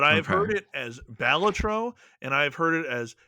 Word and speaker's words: Balatro: Before we get into this, do you pronounce mhm. it Ballatero or is it Ballatro to you? Because I've I heard both. call it Balatro.